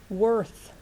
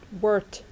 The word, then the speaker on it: worth: Worth, worth. Ok, chú ý là TH thì phát âm là th. Worth. Ok, not word.